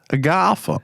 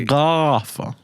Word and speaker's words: Agatha: Agatha. Say the name properly. Agatha. It's like you're saying a house party, a gaffer.